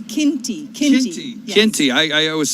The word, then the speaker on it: Qinti: Give me the pronunciation one more time. So I do not want to get that wrong. No, it's Qinti.